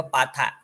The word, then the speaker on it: ปาถะ: อย่าง ครับ ปาถะ นะ บาง คน อ่าน ว่า บาตร แต่ ใน ภาษา บาลี ให้ อ่าน ว่า ปาถะ เอ่อ ภาษา ไทย บาง